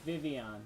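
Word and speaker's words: Vivillon: ass it's booty cheek vivon vivon it's vivon that's how it's pronounced it's vivon but it's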